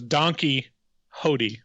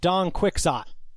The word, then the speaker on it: Don Quixote: Don Quixote? Yeah. How's it pronounced? I just hear it as Donkey Hody from you. Yeah, it's Don Quixote.